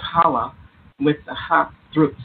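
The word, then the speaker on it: challah: of apples honey and a beautiful bread called Shala is pronounced Hala with the hot Thro sound at the beginning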